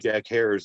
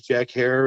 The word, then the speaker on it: Jack Herer: missed the the state Jack herer's neighborhood they call him Jack Herer the dude's name he would always say my name is Jack hair it rhymes with Terror you know he's he's